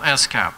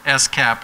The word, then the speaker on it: SCAP: detail called s-cap and it's very important if you're going to be credible that you pronounce it s-cap and not scap you start saying scab people are going to think you don't get it so if you